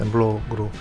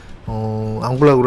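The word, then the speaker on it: en bloc: 이 앙블락 제거라고 하는 거는 레지던트 때는 그냥 엠블럭이라고 불렀는데, 영어식으로 그렇게 발음을 했죠. 엠블럭으로 제거한다 이런 표현을 썼는데, 이런 거는 어떤 거를 한 덩어리로 그냥 같이 제거하는 거예요.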